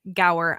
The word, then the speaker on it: Gower: guest on today and his name is go I hope I did not completely like just brutalize your last name there did I say it right it was perfect thank wonderful nailed it